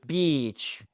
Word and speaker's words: beach: OK, donc c'est bien look at the beach et pas en ik court.